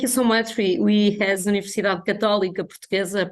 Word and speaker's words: Universidade Católica Portuguesa: We as Universidade Católica Portuguesa, pronounced in Portuguese, we feel very honored